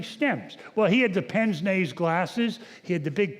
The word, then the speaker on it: pince-nez: And it's pronounced pince-nez glasses.